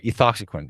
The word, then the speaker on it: ethoxyquin: x aki qin no II thought sequence re ethoxyquin is the pronunciation and so the question is if it's